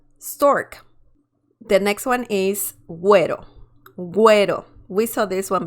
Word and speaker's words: güero: This is not pronounced pinguino, pinguino, or ghetto. Ghetto. It's pronounced pingüino, güero. Okay? So next time when you see la diéresis above the letter U, you know that you have to pronounce the letter U in the word.